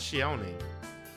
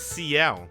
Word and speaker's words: Ciel: people just call out shioni excuse me it's ciel not shio i know i got shield from it's cl all right i'm gonna pronounce